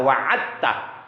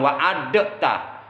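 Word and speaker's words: وعدته: Langsung aja dalnya masukin ke ta, wa'adtah. Innaka la tukhliful mi'ad. Jangan wa'adatah. Kecuali kalau dalnya tidak bertemu ta, baru kokolah ada di situ.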